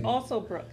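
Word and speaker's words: Alsobrooks: Yeah, say her name correctly. Yeah, right. It's Alsobrook.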